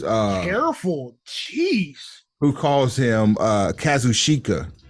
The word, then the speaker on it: Kazuchika: And I never try to pronounce his first name, so I give it's Kazuchika. It's not that hard.